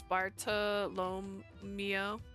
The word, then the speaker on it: Bartolomeo: He's Bartolomeo. That's how it's pronounced.